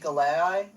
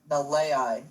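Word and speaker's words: Galeai: Every time I look at it, I want to say Galei, but it's Nalei. So if I do mess it up, I do apologize. It's just confusing that it's spelled with a G.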